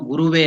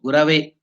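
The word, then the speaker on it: गुरवे: In Sanskrit, there is no Guruve Namaha. It is Gurave. The Sanskrit thing there is Gurave Namaha.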